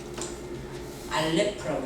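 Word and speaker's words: אלף: 이걸 읽을 때 뭐라고 읽느냐 하면요, 알레프라고 읽어요. 처음 거죠. 우리는 이거는 기역 이렇게 하잖아요. 근데 그 사람들 이 글자 이렇게 처음 글자를 드러내놓고 이거를 알레프래요. 알레프 해보세요. 알레프. 이거 알레프라고 해요.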